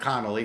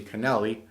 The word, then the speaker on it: Kennelly: fight you know um Canelli not Connolly excuse me Kennelly I want to make sure I say it right he got the win